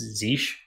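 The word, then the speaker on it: zsh: using uh z sh it's actually pronounced zeesh um but uh if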